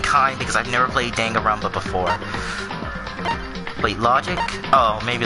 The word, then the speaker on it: Danganronpa: trigger happy havoc danganronpa or is it Dan Caramba no no they pronounces danganronpa hey wait a lot